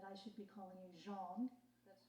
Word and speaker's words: Jeanne: I learned by reading the book that I should be calling you Jeanne. That's right. So I've been pronouncing it wrong for 23 years.